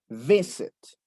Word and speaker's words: visit: Porque visit tiene el acento en V. Visit. Visit.